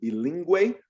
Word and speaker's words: bilingüe: German language somehow, then it also produces that W sound. So very rare in the Spanish language, not many, not something you're gonna hardly ever see. Linguista. Linguista. O bilingüe.